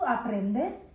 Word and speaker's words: aprende: E is pronounced as a. So o-s-a. A-P-R-E-N-D-E. Aprende.